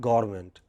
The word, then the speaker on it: government: But many people take this away. They say government, government, Manmohan Singh government, Jayalalitha government. It is not government. What is it? Government, government. Main stress on government.